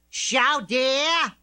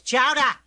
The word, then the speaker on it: chowder: Chow dear! Chow dear! It's chowder! Say it right!